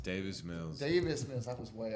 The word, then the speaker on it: Davis Mills: Time for David Mills. Did I say his name? Daniel Mills? Davis Mills.